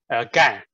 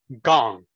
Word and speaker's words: Gang: So when Molly introduced me, she pronounced my name perfectly as a standard pronunciation. My first name, Gan. But since I'm not the bad guy, the pronunciation is actually Gong.